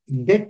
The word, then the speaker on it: debt: corporate de uh corporate debt restructuring restu B is silent B is silent there debt restructure debt means loans